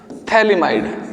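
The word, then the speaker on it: phthalimide: formation of potassium salt of थलीमा इड इसमें P silent होता है ठीक है पोटेशियम सॉल्ट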